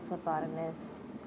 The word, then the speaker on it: phlebotomist: Yes, you said it right. It's phlebotomist or phlebotomy, CPT certified phlebotomist technician.